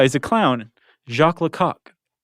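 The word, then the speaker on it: Lecoq: Jacqu Lak. Is that how it's pronounced? Yeah. You sure it's not Lau?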